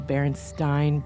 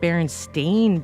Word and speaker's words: Berenstein: it's about stein or it's pronounced stein like you would you know the famous einstein as t-e-i-n now you know there was a point where everybody was saying baron stained bears and i'm like